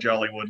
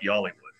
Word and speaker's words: Jollywood: Oh, it's Jollywood. Yeah, well, like, non-locals call it Jollywood. Locals call it Yollywood.